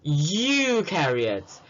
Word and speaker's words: eukaryotes: Pro rhymes with no, so there will be no nucleus, while eukaryotes rhymes with true, so it has a true nucleus.